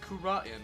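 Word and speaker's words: Kurain: Well, Your Honor, supposedly it's pronounced Kura'in, but I don't care.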